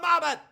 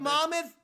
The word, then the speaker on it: Monmouth: The Battle Geoffrey of Monmouth? Yeah, it's a fucking 1,000-year word. It comes from England, and it's always been pronounced Monmouth. It's not Monmouth, you fucking stooge.